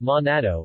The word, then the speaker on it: Manado: minato pronounced monado in Manado Malay and natto in Indonesian is the capital city